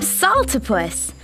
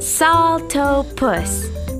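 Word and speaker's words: Saltopus: was my bad hyah I am Salta puss that's pronounced salto puss it means hopping foot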